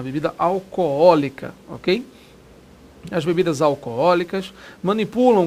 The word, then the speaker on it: alcoólica: as propagandas de bebidas alcoólicas cuidado com a pronúncia tá o acento É segundo ó não no primeiro ah existem dois olos né A propósito né o pessoal fala a bebida alcoólica a bebida alcoólica Ok